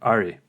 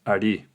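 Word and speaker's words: ערי: It is the name Ayin Resh Yud, or Ari. Ayin Resh Yud, pronounced Ari.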